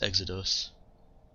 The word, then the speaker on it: Exodus: Exodus. Or Exodus. I think it actually is pronounced Exodus.